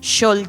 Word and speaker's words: Xol: de iglesia cristiana misericordia mi nombre se escribe con x porque me llamo es un nombre un solo nombre para el sur de México se dice se pronuncia shol es un nombre